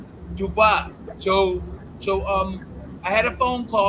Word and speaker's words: Dubois: How do you pronounce his name? Dubois.